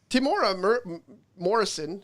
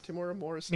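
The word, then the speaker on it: Temuera Morrison: Timora Morrison, is that his name? Timora Morrison?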